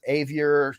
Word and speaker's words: Avier: Chase Avier, rhymes with behavior, right?